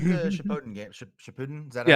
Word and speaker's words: Shippuden: Shippuden, is that Yeah. how it's pronounced? Shippuden, yeah.